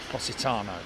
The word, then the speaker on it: Positano: Australia but yeah just like the City it's pronounced Positano okay so good ey welcome to uh Alicia